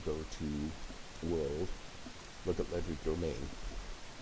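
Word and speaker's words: Legerdemain: Look at Ledger Domain. Ledger Domain, I've heard it pronounced a hundred ways. I say Ledgerman.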